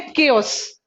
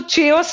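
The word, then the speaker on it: chaos: एक दूसरा नाम है केओस। इसे हम इसको चेओस नहीं बोलोगे। बहुत सारे स्टूडेंट्स ना क को च पढ़ लेते हैं। कभी कभी सी एच का प्रोनाउंसिएशन च भी होता है, कभी क भी होता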